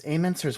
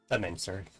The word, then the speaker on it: Amencer: It's amener's watch. That is how I pronounce it, right? Amenser, but yes.